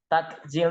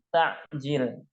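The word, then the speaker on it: تعجيل: Kalau pakai K, takjil itu bukan bahasa Arab. Yang dari bahasa Arab ya istilah untuk berbuka puasa menyegerakan itu pakai ain, takjil.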